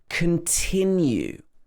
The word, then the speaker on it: continue: Continue. So the first syllable is not stressed, so it's not continue. It should be continue. We stress the tin here.